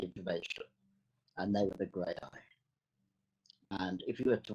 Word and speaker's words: Graeae: Well, grey eye is how we pronounce it, as in grey eyes.